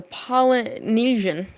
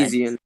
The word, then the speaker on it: Peloponnesian: So, and then the final hackathon that's happened so far, the Polynesian Conquest. Hard name to say. Peloponnesian.